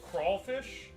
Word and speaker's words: crayfish: It's spelled crayfish, we pronounce it as crawfish.